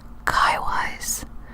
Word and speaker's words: Kiwis: the first world war New Zealand soldiers were known as Kiwis but this was sometimes humorously pronounced Kai wise imitating the New Zealand vowels so now you know